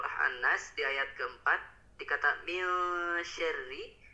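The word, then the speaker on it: مِن شَرِّ: di ayat keempat dikata mil syarri, tadi masih kurang disamarkan ya Pak. Tadi terdengarnya masih min syarri dibacanya, belum disamarkan. Lebih disamarkan mil syarri min.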